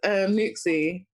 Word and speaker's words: NUXXE: I don't know how to pronounce it. It's Nuxie.